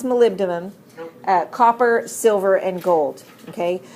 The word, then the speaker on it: molybdenum: these chromium molybdenum or as you learn to spell it Molly B denim but actually pronounce molybdenum copper silver and gold